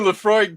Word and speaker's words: Laphroaig: talk about that new laphroaig 10-year cask strength it's it's pronounced pronounced the frog the the frog the frog